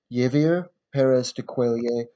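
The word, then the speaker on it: Javier Pérez de Cuéllar: Javier, I think that's pronounced Javier Perez de Cuellar of Peru, 1982 to 1991.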